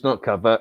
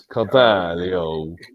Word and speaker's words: Carvalho: It's not Carvalho. It's Carvalho. Carvalho. João Carvalho.